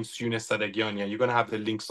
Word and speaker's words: Sadaghiani: How do I pronounce it? Sadaghiani. Sadaghiani.